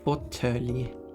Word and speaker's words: fåtölj: It's pronounced fåtölj. Exactly spelled if you follow Swedish pronunciation, of course.